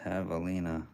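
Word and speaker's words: javelina: thing is a sweet doggy pronouned to have pronounced Havalina oh okay Havalina it's a wild pig like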